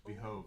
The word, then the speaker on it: behove: Would it not behoove you to be a little more graceful in victory? Yeah, it's behove actually is the way they pronounce it over there.